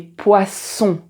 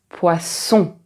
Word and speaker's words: poisson: Et ici, quand tu as deux s, c'est toujours poisson.